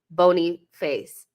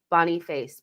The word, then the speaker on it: Boniface: Chris says, just so people know, it's pronounced Boniface. Boniface. Boniface. Like Bonnie and Clyde. Like English name Bonnie, and face as in I slapped Mikel in the face for signing Havertz. So Boniface. Got it. Boniface.